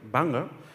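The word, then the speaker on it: Phang Nga: At the great tsunami disaster in 2004, I deployed to the Thailand, Bangor province, my pronunciation is correct, Bangor, as a member of the JDR medical team.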